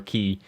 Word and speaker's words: quay: these sort of thing I've heard a guy on YouTube column Keys they might be called Peas so I might have been mispronouncing kwai or ki this whole time but until I get confirmation I'm gonna stick with Quay I think because that's how it's spelt so that seems more logical right so these roads